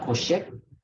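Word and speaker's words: חֹשֶׁךְ: Kara Elohim laor yom wala vela koshek kara koshek Koshek with the emphasis on the o, koshek.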